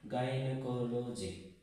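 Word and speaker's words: gynecology: এবং এখানে একটা ব্যতিক্রম আছে, জি এর পরে ওয়াই থাকা সত্ত্বেও সেই জি এর উচ্চারণ কিন্তু এখানে গ হবে, যেমন গাইনোকোলজি। এখানে জি এর পরে ওয়াই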